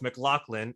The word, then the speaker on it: McLaughlin: And so I'm glad that we now know it's McLaughlin and not the other two ways that we were describing it.